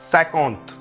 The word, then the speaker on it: cinquante: 50 will be cinquante, cinquante. So if you want to pronounce 50 in French, the word will be cinquante.